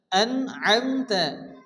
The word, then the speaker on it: أنعمت: হবে আইন মিমস আম এই আইনকে ভালো উচ্চারণ করতে হবে আনআমতা অনেকে আছে এখানে আমতা পড়ে আমনে আনআমতা আলাইহিম আইনকে ভালো উচ্চারণ